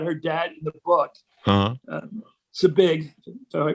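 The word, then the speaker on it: Zbig: Zabig, so I pronounced it right.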